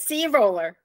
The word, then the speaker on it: Sea Roller: program did I say it right Leah yes C roller the C roller and I'm here with Leah